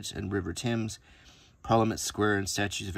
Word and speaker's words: Thames: I had to go to England before I even knew that that river was not called the Thames but the Thames.